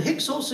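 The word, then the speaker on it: Hyksos: they call it the pixels you can I'll spell it for you h y k s o s it's called The hixels Invasion and it happened in the latter part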